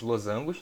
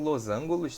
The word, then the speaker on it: losangos: Que são chamados losangos, não são losângulos, tá? Losangos, beleza? Losangos, tanto essa grafia quanto essa pronúncia estão errados, tá bom?